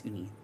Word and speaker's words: Uni: The brand is Uni. Oh, sorry. Like spelled like this also. Yeah, it's Ooni.